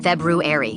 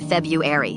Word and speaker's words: February: Another time she made me say February until I pronounced the first R. February, not February.